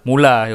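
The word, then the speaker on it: Müller: saatnya giliran Thomas mula Thomas mulai bacanya bukan muler muler boleh juga kalau-kalau ini saya kita mulai apa sih sebenarnya tapi kalau baca yang benar mulai yuk nah kayak kayak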